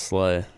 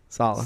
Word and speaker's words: Saleh: I thought it was always pronounced Slay. Saleh.